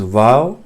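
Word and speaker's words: واو: Then comes vav. Vav is as in V or an W, like vessel, as in English vessel.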